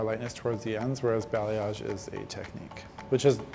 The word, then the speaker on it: balayage: People don't often know how to pronounce balayage, so how you say it is balayage, but a lot of